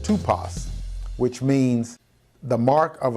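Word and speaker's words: τύπος: The Greek word for examples, pronounced tupos, which means the mark of a stroke or blow, print, a figure formed by a blow or impression.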